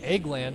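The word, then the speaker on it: Egeland: And Eggland, as it's pronounced apparently, is in 8th.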